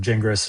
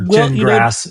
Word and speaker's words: Gingras: from Jingras and or Jingrass, excuse me, uh in in my brain. I know. I know. Everyone's still getting it wrong, too. It's pronounced Jin like you drink and grass like you mow.